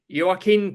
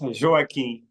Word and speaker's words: Joaquim: Okay, so Joaquim Cruz or Joaquim Cruz, if I get your Jo- name.